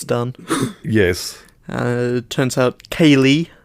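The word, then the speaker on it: cèilidh: yes uh turns out Kaye which is spelled just as it sounds c e i l a d h Kaye yeah and and that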